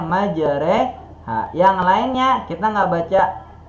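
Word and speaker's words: مجراها: Makanya kalau kita baca Al-Quran surat Hud, kita bacanya majreha.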